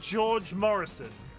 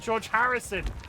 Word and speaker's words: George Harrison: I want to say George Morrison, but I always say it wrong. I love pets that have food names. George was George Morrison, the musician. George Harrison. I always say Morrison and not Harrison.